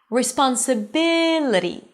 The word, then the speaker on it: responsibility: Responsibility. You see, it's not responsible, it's responsibility.